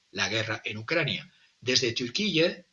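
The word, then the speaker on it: Türkiye: febrero del 2022 la guerra en Ucrania desde turqui y digo turqui porque así lo quieren sus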